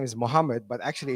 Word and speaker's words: Muhammad: All right, my name is Mohammed. It's actually pronounced Muhammad.